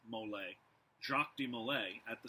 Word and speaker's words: Molay: the stake you can spell at m-o-l-a-y mole jacques de malay at